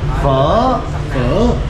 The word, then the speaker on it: phở: Alright, so I want the correct pronunciation. Okay. Phở.